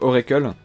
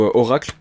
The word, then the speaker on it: Oracle: Je crois que c'est l'avant-dernier de Oracle, ou Oracle, s'il faut, il faut prononcer en français vu que tout est chanté en français.